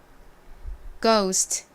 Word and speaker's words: ghost: 가장 앞에 gh가 오죠 이렇게 이중자음 gh 단어의 가장 앞부분에 쓸 때 기억 소리가 난다고 말씀드렸죠 그리고 오 소리 나는가 오고요 스 소리 나는 S 그다음 리 나는가 옵니다 발음해 볼까요 goost ghost 오케이 자 팬 들고